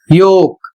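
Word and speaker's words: yolk: समूह अगला शब्द है वाई ओ एल के और इसका उच्चारण होता है योक और इसकी हिंदी अंडे की जर्दी।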